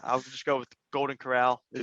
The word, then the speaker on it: Corral: however you say his name, doing Matt one Carroll. of these Carroll, It's Corral, yeah, Golden You Corral. better learn it when he hoists the Heisman. Yeah, I'll just go with Golden Corral.